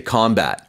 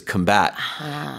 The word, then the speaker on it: combat: it as a noun fighting we usually say combat right combat Forces or There was heavy combat